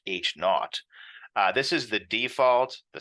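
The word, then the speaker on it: H₀: The null hypothesis, represented as H with this sub-zero, typically pronounced H naught.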